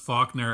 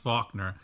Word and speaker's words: Falconer: on the fact that it's pronounced Faulkner and spelled Falconer and pronounced Faulkner.